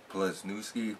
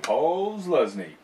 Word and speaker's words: Posluszny: Plasnewski. I can't say his name. Posluszny.